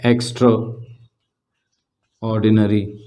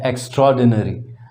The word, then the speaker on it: एक्स्ट्राऑर्डिनरी: जैसे आप कहें एक्स्ट्रा ऑर्डिनरी, इसकी प्रोनाउंसिएशन है एक्स्ट्राऑर्डिनरी, नॉट एक्स्ट्रा ऑर्डिनरी।